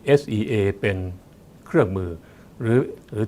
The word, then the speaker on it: SEA: อะไร นะ ครับ sca C เรา ไม่ อ่าน ว่า C นะ ครับ เรา เรา อ่าน ว่า Sea นะ ครับ โดย สรุป นะ